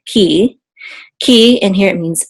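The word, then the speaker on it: כִּי: with a headache and the you together will say Ki so the hirik says e so Ki KI and here it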